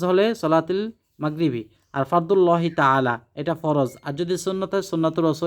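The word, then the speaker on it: تعالى: তা'আলা আল্লাহু আকবার দর্শক এটির উচ্চারণ হলো তা'আলা সুন্নাত রাসূলিল্লাহি তা'আলা আল্লাহু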